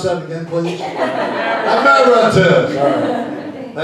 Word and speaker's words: emeritus: Would you pronounce that again, please? Emeritus.